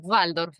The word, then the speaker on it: Waldorf: vale, y has mencionado varias veces la pedagogía Waldorf, ¿no? ¿Se pronuncia así? Sí. Sí, Waldorf en realidad, porque la B corta en alemán, ¿viste?